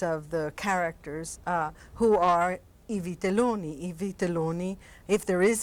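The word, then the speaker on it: I Vitelloni: It's always I Vittelloni, which you coached me on pronouncing correctly, I have to admit.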